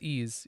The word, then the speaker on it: Ys: um isn't isn't it isn't the actual pronounced it's ease yes John was trying